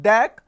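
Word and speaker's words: deque: DAC pronounced like DAC double-ended Q double-ended Q where you can insert element from front as well as rear.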